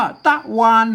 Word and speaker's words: ตะวัน: ครับ อ่า อ่าน ว่า ตะวัน เหมือน กัน ใช่ มั้ย อ่าน ว่า ต๊ะ นะ ครับ อัน นี้ นะ ครับ ตะวัน นะ ฮะ อ่าน ว่า ต๊ะ วัน เลย ก็ เงียบ คน ทั่ว